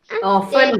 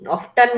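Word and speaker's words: often: मोहम्मद नसन वस ऑफ्टन ऑन बेटा ऑन है वो ऑफ्टन नहीं है न नहीं आता वो ऑन है टी की आवाज साइलेंट है ऑन टेकन टू द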